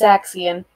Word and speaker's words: Xezztl: Did you pronounce it Xaxium? It's Xezztl.